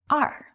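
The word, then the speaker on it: 二: When used to represent the number 2, such as in counting or a phone number, the number 2 is pronounced as R.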